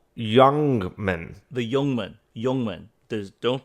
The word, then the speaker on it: Ljungman: The L Jungman. The L Youngman. The Youngman. Youngman. The don't pronounce the The Jungman.